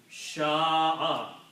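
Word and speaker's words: شاء: So the sound of these three letters will be sha'a.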